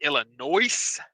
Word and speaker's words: Illinois: If anybody doesn't know, It's pronounced Illinois.